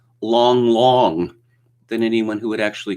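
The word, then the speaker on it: 郎朗: presented in english as lang lang but it's actually pronounced long long so why don't you just change those a's to os and stop confusing us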